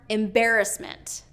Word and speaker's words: embarrassment: dictionary a couple more embarrassment not embarrassment not embarrassment but embarrassment embarrassment so second syllable stress not third syllable and then fabulous okay